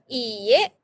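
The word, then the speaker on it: いいえ: Pengucapannya lebih panjang ya. Kalau hai tadi pendek, tapi kalau iye jelas lebih panjang.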